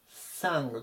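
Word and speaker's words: sang: 分子形ですねサングとサングこちらは後への中間の音ですねはいあと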